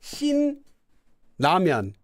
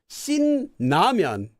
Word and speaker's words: Shin Ramyeon: So people might pronounce it as Shin Ramyeon. Shin Ramyeon, right?